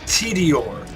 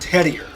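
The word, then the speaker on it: Tediore: and the borderlands series its TD or not Teddy er its mallow on not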